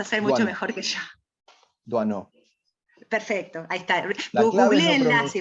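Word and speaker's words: Doisneau: Duano.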